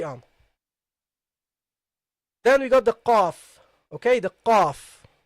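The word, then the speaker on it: قاف: So the qaf is a different letter than the ka. It is the qa. You see, aq. And if you cannot pronounce it, try it first. This sound, aq. Okay, that's a bit easier. I've seen that a lot of students, it's easier for them to pronounce this than qa, qu, qi.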